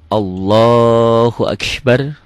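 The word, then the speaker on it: الله أكبر: Takbiratul Ihram Allahu akbar Allah jangan allahah ya ingat-ingat ya ini kan tulisannya Allahu Akbar salah Enggak ada yang salah K tulisannya Allahu Akbar tapi salah salah ini seakan-akan ada w-nya di sini Allah Allahu Akbar Akbar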